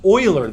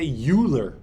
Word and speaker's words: Euler: be tempted to say Euler you will find you sound foolish if you say Euler don't say Euler say Euler it's a German name and in German you say when it's EU Euler all right this um